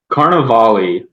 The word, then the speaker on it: Carnevale: say your last name carnavali like definitely pronounce the e at the end no no one does